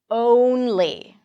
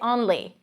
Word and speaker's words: only: Only. I know you want to say only or only, but get to the W sound.